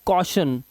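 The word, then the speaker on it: caution: चलिए अब यहां पर देखिए, कहता है ए यू का उच्चारण अ होता है। अब यहां पर देखिए ए यू दिखाई दे रहा है, इसलिए इसको पढ़ते हैं कॉशन।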